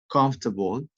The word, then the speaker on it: comfortable: often so you can have the habit to pronounce them in that way. Okay, let's practice again. Comfortable, different, family, favorite, interesting, miserable, separate.